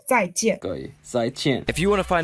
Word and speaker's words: 再见: The J we pronounce T, so 再见.